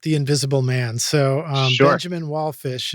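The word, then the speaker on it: Benjamin Wallfisch: Benjamin Wallfish, if I'm pronouncing that right. You are.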